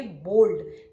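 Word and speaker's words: bowled: वो है बोल्ड over spelling है बी ओ डब्ल्यू एल ई डी लेकिन हम प्रोनाउंस करेंगे बोल्ड डब्लू यहां पर साइलेंट है सो कैसे प्रोनाउंस करेंगे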